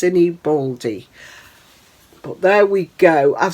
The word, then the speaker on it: Sinibaldi: stitched handmaids by Amy I think it's pronounced cine baly but there we go